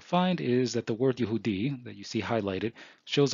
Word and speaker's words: Yehudi: So this part here says, "V'lirot ba'amidu divrei Mordechai ki yegil lahem asher hu Yehudi."